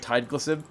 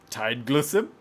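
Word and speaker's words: Tideglusib: to pronounce it's called tide glisten it really it sounds like somebody like poked you in the ribs as you were trying to say like Tide Pods it's this thing this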